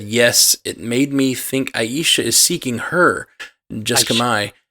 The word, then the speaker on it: Aisha: Am I saying her name wrong? Aisha. It's Aisha.